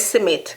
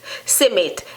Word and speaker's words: simmit: this surname in jamaica smith this is simmit simmit s-i-m-i-t submit but the word is smith smith smith smith in english submit in jamaica and patwa simmit in jamaica and patwa